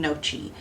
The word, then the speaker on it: gnocchi: the G is not you don't pronounce the G tie so we're going to make some chicken noi soup so the ingredients